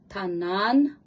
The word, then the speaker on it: tanana: It's sort of softly say like tanan.